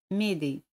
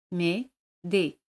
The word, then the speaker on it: m'aider: Como tenemos dos vocales, elimina la letra E. Se dice m'aider. Me-de.